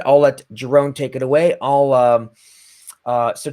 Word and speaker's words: Jeroen: So I'm Jeroen. That's how you say it in Dutch. But it's fine if you call me Jeroen in English.